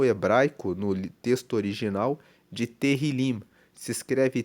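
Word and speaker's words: Tehilim: Tanto que o livro de Salmos, ele é chamado no hebraico, no texto original de terrilim. Se escreve T E H I L I M, que quer dizer louvores.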